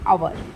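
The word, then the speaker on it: hour: इसको B count करेंगे हा ओ यू आर तो हा साइलेंट है ये पढ़ेंगे अवर एन तो स्टार्टिंग का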